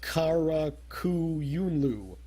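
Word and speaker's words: Qara Qoyunlu: All I'm vaguely aware of is that the Q makes a k sound in Arabic. So it's Karakuyunlu, which is going to be a big threat.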